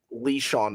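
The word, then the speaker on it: LeSean: Lee Sean McCoy.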